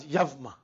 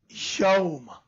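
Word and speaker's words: يوم: It's not Yavma. It is Yawma.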